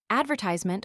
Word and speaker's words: advertisement: Advertisement offers an example. The prevailing American pronunciation despite incessant pedagogical counterblasts puts the accent on the penult whereas the English pronunciation stresses the second syllable.